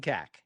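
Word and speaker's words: Kaak: It's Hudson Cack. And that's how I'm going to say it. And that's going to be exactly how I'm going to pronounce it the entire season.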